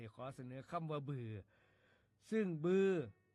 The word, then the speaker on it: บือ: คำ ว่า บือ ครับ บือ เขียน บ่อ ให ๆ สระอือ อ่อ อ่าง รวม กัน แล้ว อ่าน ว่า บือ ครับ บือ เป็น คำ นาม